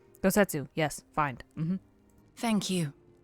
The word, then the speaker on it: Gosetsu: will find gosetsu together I almost said his name wrong gosetsu yes find mhm thank you if gettu yet